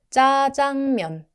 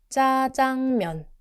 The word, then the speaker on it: 짜장면: 짜장면, 짜장면. When you pronounce these tense consonants, tighten your mouth slightly and don't release extra air. They are not aspirated like k, t, p. They're just stronger and firmer.